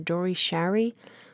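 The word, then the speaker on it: Dore Schary: the producer was uh I think his way to pronounce his name is Dory Sherry kind of a liberal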